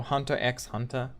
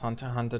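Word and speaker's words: Hunter × Hunter: yeah i think uh um hunter hunter or hunter x hunter um but it's pronounced hunter hunter 2011 he's pretty good anime um if you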